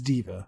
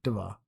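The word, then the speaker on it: D.Va: Mabel is our entertainment its diva not da ba D period ba yes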